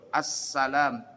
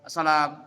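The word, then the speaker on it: السلام: Nah seperti sin ini kalau pakai tasdid dia dibacanya huruf doble. Assalam. As es S-nya dua. Assalamu. Assalamu. Nah, tidak boleh dibaca asalamualaikum warahmatullah. Asalam. Asalam. Ada orang pakai alif lam tapi sin-nya enggak dobel, gak tasdid dibacanya. Asalam.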